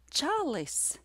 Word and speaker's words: čalis: The first word is pronounced čalis, and the second word is pronounced cālis.